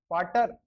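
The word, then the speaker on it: Vater: V का होता है प्रोनाउंसिएशन होता है फाउ, लेकिन जब वर्ड के अंदर यूज होता है तब क्या यूज करते हैं अपन इसको, फे ही यूज करते हैं। जैसे फाटर, तो वी को फे, ए का आ फा,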